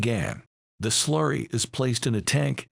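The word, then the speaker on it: gangue: or minerals and worthless rock called Gan pronounced Gan the slurry is placed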